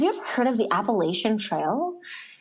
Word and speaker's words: Appalachian: ever heard of the Appalachian Trail? And some people pronounce that trail Appalachian. So potato, whatever you prefer. Mm-hmm. I pronounce it the Appalachian Trail.